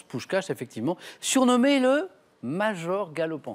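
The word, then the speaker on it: Puskás: bien prononcé par fabiion pou cche parce que ça s'écrit P S K a S mais ça se prononce pou cche effectivement surnommé le major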